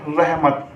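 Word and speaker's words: رحمت: तो इसकी हिज्जा करते हैं, रे और हे रह, मीम और ते मत। अब मिलाइए से रह मत।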